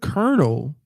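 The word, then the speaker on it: colonel: The word kernel doesn't even have any letters to indicate at all that sound. It's an O, an L, and an O, as in solo. Colon. What else? What else is OLO? Dolo. polo. But somehow that an O, an L, and an O is supposed to be pronounced like an E and an R.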